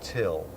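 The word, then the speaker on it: Thgil: so what's your name my name is till it's spelled t h g i l but it's pronounced till till this is the worst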